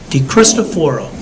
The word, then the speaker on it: DeCristoforo: up the Pennsylvania records my name is d christophero spell it just like it sounds no age you